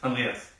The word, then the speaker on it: Andreas: Andreas, that's how you pronounce it? Yes, Andreas. Andreas. It's German.